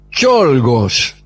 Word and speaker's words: Czolgosz: Hablaremos hoy de León Czolgosz. Oh, Sí. amigo. En realidad se escribe León Czolgosz. Usted sabe que en algunas lenguas la C y la Z hacen la Che. Por ejemplo, Checoslovaquia está escrito Czechoslovaquia.